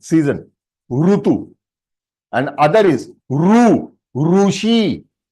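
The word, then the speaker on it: ऋ: It is not a Sanskrit pronunciation. So if it is Sanskrit pronunciation, it is Ru.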